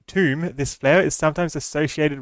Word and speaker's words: Thumb: Oh, pronounced tomb, this flower is sometimes associated with death.